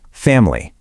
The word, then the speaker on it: family: It is not family. It drops down to just family.